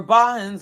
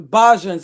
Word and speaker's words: Bajans: Where Bahans, or, like the people from, I may be mispronouncing it, but I know he's referring to the people from the let me just like the Bajan, the Bajans.